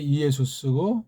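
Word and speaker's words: Ἰησοῦς: 그 말씀입니다 예수는 이제 원래이 본디 발음이 이예수 스고 그다음에 주는 퀴리오스 그리스도는 크리스토스 이렇게 음역을 해야 합니다 근데 요거 이수랑 그리스도는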